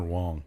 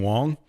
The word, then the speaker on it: Wang: The only reason I asked is because when there was a pitcher for the Yankees whose name was Chin-Ming Wong, it was spelled like Wang, and there was always signs like I heart Wang.